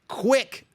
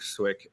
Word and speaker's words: Swick: One of the best to do it, Mike Quick. I hope I got the nickname right. Mike the Quick Easy. Swick. Yeah, that's it. That's It's Mike correct. Swick. Okay, Mike the Quick Swick. It rhymes.